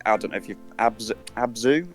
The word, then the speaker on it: Abzu: If you like Journey, you'd like, I don't know if you've Abzu, have I pronounced that right? Abzu? Yeah, ABZ.